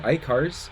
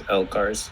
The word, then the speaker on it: LCARS: I think, is it ICARS? Is that how you say it? I think it's LCARS.